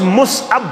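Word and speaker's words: مصعب: सिंद पलव पेरिस पे कत पे हिस्टोरिकली ब्याख मुसअब बिन उमैर कशीर वन मुसअब असल लफ्ज मुसअब असल लफ्ज क्या मुसअब छुन सही प्रोनाउंसिएशन के असल प्रोनाउंसिएशन क्या मुसअब मुसअब बिन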